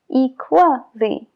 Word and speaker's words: equally: Y lo que pasa es que se juntan las dos y crean el sonido WA. Casually, visually, equally. Y por eso se pronuncia, porque forma una combinación con la vocal anterior.